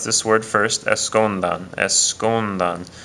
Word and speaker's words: escondan: pronounce this word first escondan the stress is over the is over that u right there so it's on the